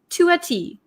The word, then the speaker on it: to a T: So to a T, when we say it very quickly, it sounds like to a T, to a T. It almost sounds like one word, right?